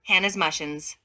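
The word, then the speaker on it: Hanasmussen: legions of Hannah's mushens this word is pronounced with an H in this manner Hannah's mushens these Legions are constituted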